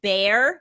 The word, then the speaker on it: bear: Assad, bear. Very good. Bear rhymes with care.